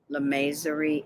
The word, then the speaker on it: lamasery: It's a mythical, here we go, harmonious village, gently gilded from a lamasery enclosed in the western end of the Kunlun Mountain.